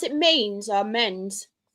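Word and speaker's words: Mainz: I think it's Do you pronounce it mains or men's? Mates.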